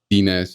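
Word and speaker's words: Denez: So Dinez is not Dinez? Wait, it's Dinez? Yeah. It's Dinez, like D-E-N-E-Z.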